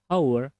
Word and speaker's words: hour: Tapi karena dibacanya hour pakai o ya kan.